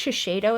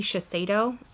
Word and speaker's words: Shiseido: This is the, I believe it's Shiseido is how you say, but it might be Shiseido.